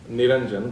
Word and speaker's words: Niranjan: It's Niranjan, by the way, in case if anybody is wondering what he actually mispronounced it to.